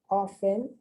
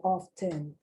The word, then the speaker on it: often: is very interesting because i've heard often and often and i think both are acceptable the t is either pronounced or not pronounced soften i've heard soften